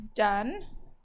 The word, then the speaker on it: done: so in this one the E is silent but it doesn't make this long so this is our